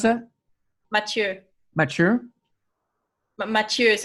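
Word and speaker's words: Matthieu: yeah the French version of how do you pronounce a mature mature but matures it's ma th ie you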